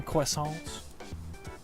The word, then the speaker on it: croissant: Two more croissants. Eating quickly can give you a digestion, you know. Can you blame me? Their croissants are amazing. Say it like French people do.